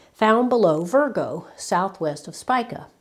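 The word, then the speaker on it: Spica: below Virgo Southwest of spika or sometimes pronounced spika it has several galaxies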